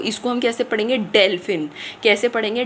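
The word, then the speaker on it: Delfin: डेलफिन। कैसे पढ़ेंगे? डेलफिन।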